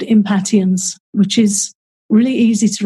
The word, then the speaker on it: impatiens: really helpful is called impatiens which is really easy to remember what it's for because to me it sounds a bit like impatience and here in the states it is pronounced impatience oh it is old